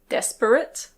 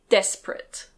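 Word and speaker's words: desperate: This word can be pronounced "des-pe-rate". Des-pe-rate. But most of the time we say "des-prate". Des-prate.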